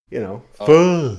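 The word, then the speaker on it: phở: Pho. Okay. Yeah, some You Vietnamese tried to pho.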